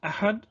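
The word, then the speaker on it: אחד: So for example, the number 1 in Proto-Hebrew, at some point you would have pronounced it Ahad. Okay, so here the Ha letter represents actual Ha, Ahad, but in the word for 5 it was Ch, so they said Chamisha. Okay, Ahad and Chamisha, and it's the same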